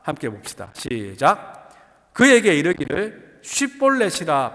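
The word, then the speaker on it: שיבולת: 큰 물이라는 뜻의 쉿볼렛을 에브라임 사람들은 십볼렛이라고 발음했습니다.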